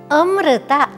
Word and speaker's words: ಅಮೃತ: ಅಮೃತ, ಅದನ್ನ ಅಮೃತ ಅಂತ ಹೇಳ್ಬೇಕಮ್ಮ.